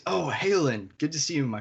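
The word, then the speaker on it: Haolinn: see you my friend hayland at ostrow is this character's name all right we're feeling it we good good sounds perfect did you spell that first name it is h a o l i double n looks a little weird on paper but it sounded good to me yeah it's not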